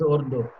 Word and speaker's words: Ordos: Ordos is something like Urdu. The pronunciation is Urdu.